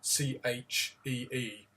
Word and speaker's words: Qi: There's no word you would find in modern English for chi, which is spelt Qi, but it's pronounced more of a Chee.